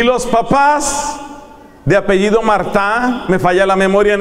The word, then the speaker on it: Martin: franceses de apellido Mart eso se escribe Martin pero se pronuncia en francés mará los los esposos de